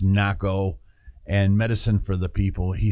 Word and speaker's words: Nahko: I like I said I think it's pronounced NACO and for the people